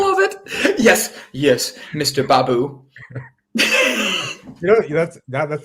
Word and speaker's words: Baboo: it yes yes mr babu you know that's that that's the first time you've actually pronounced my last name right is it is it baboo yes do you want to